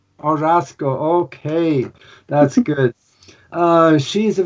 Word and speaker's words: Orozco: My last name is Orozco. Orozco.